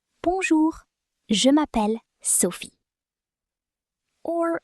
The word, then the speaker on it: bonjour: So, as I was saying, remember to emphasize the last syllable of French words. So far, we've had bonjour. Bonjour.